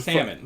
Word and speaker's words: salmon: There's a Salmon. there's a fucking L there. Yeah, but it's not pronounced. There's a fucking L there. It's Salmon.